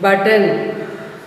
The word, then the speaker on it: button: Button, one T is silent.